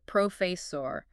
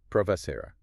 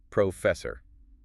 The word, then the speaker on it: professor: Yeah, that can happen especially if someone's less familiar with the standard American pronunciation which is it's professor. So professor the emphasis is on the second syllable.